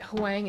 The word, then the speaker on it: Huang: You said Huang is pronounced like long, not Lang.